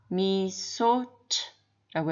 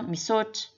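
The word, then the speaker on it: misaotra: 그래서 말은 두 번째 미사우차가 되어야 하지만 미사우차라고 하지 않고 미소츠라고 해서 미소츠 끝발음을 강하게 하지 않습니다.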